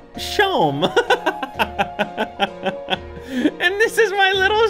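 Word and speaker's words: Seam: better spent about yourself the name seem pronounced shome and this is my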